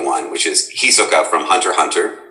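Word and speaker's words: Hunter × Hunter: which is hisoka from hunter hunter with we don't pronounce the x it's just some weird punctuation they've thrown in um and he's a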